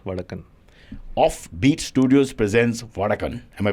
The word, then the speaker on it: Vadakkan: Beach Studios presents vadakan off Beach Studios presents vadakan am I pronouncing it correctly correct I'm saying more like